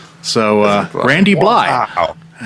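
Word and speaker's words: Blythe: He said the th is silent. So uh Randy Bllye has a book out.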